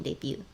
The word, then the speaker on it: debut: But I guess I pronounced the T in debut. I shouldn't do that.